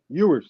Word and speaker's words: Ewers: I heard that Irwin. dude from Texas. Quinn Irwin. Quinn Ewers? Ewers. Yeah, I pronounced it wrong.